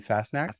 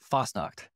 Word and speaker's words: Fassnacht: Today we have Kevin Fassnacht. Did I pronounce that right? Kevin Fassnacht? Fasnacht.